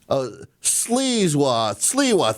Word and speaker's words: Sliwa: saying that the socialists, Sliwa, thank you. I'm sorry, I was saying Silva. Curtis Sliwa, thank you. Just got a text message from her saying it's Curtis Sliwa.